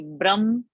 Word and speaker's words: ब्रह्म: So it is no bha, it is ba alpa prana, and it is ha ending. So it should be Brahma.